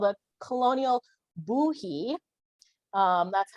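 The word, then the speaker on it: Bohea: it's called a colonial buhe um that's how you pronounce that b-o-h-e-a is pronounced boo-hee uh because it's a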